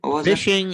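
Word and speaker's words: phishing: one was it again fishing is first of all spelled with a ph so it's just like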